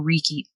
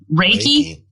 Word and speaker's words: Reiki: got color therapy or Ricky how do you say that Rick Ricky what did you say Reiki sorry okay like I don't